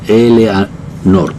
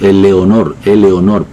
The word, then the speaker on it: Eleanor: Y se encuentra en el cuarto mandato, o en el cuarto espacio del monumento, Ella se llamaba, como estamos diciendo, Eleanor. Nosotros siempre le decimos Eleonor.